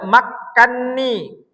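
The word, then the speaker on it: مَكَّنِّي: Aslinya itu makkanani. Makkanani nun jumpo sama nun kan kabir itu nun pertamanya berharakat, nun keduanya berharakat. Ah karena dalam riwayat itu pengecualian jadi langsung diidhamkan. Makkanni 1 2 3 ah langsung dikasih harakat tasdid ya.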